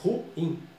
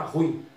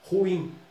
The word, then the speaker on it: ruim: A palavra ruim, no português formal, a pronúncia é ruim. No português popular, muita gente fala ruim. Mas no português formal, ruim.